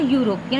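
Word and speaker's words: European: Yesterday dash यूरोपियन, यहाँ पर ई silent है, ई वॉल लेटर है लेकिन ई साइलेंट है, यूरोपियन, also any suitable here.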